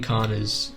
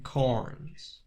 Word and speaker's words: Carnes: This is a live cover of Kim Carners'- is it Kim Carners'? Nobody knows how to pronounce it-it's not...okay Google... (Kim Carnes) Kim Carnes Okay This is a live cover of Kim Carnes' song.